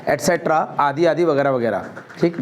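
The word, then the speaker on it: et cetera: आप लोगों को नहीं बोलना है एक्सेट्रा, आपको बोलना है एटसेट्रा। इसका जो राइट प्रोनाउंसिएशन है क्या है? एटसेट्रा मतलब आदि आदि वगैरह वगैरह। तो इसका सही जो प्रोनाउंसिएशन है वो एटसेट्रा है। अच्छे अच्छे टीचर तक देखते हैं अपन जो सुनते हैं एक्सेट्रा बोलते हैं स्कूलों में कॉलेज में एक्सेट्रा। अरे एक्सेट्रा नहीं है वो, एटसेट्रा है वो।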